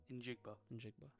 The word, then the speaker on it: Njigba: Injigba.